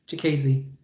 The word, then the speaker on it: Chikadze: Yes, like Chikadze.